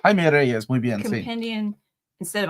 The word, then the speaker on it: Jaime Reyes: Jaime Reyes, muy bien.